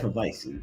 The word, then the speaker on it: Hefeweizen: Hefeweizen.